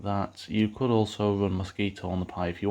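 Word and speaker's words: Mosquitto: On either Raspberry Pi OS or Ubuntu, Mosquito can be installed by running the command apt-get install Mosquito. Note that it's spelled with 2 T's.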